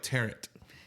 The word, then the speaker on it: tarot: It's spelled with a T at the end. It's silent, though. Yeah. It's spelled like tarot. Tarot.